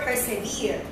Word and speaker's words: persever: spelling for the word persevere but in that time we they used to to pronounce it as persever not persevere that's why I say persever okay so pay attention